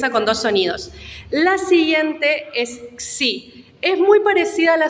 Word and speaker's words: xi: el centro la letra se llama sí Qué significa esto Esta es la letra que después deriva la x empieza con dos sonidos cs y por eso nosotros tenemos las palabras con x tienen doble sonido esto es una consonante